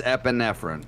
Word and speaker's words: epinephrine: Epi you know we're pretty happy so it's epinephrine yep epinephrine um Narcan or Nexus naloxone whatever